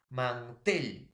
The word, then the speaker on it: mantel: Mantel, profesor. La mayor fuerza de voz está en la E, en la tel, ¿no?